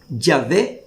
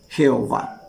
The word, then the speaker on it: Yahvé: están de acuerdo porque La manera original y primitiva de pronunciar el nombre de Dios debía haber sido yahvé y no Jehová entonces ahí vemos Nosotros